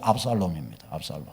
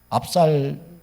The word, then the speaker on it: 압살롬: 그러니까 이 다말이라고 하는 누이의 오빠가 누군가 하면 바로 저 압살롬입니다. 압살놈이 아니고 압살롬입니다. 압살놈, 이상한 발음이 건데 압살롬입니다.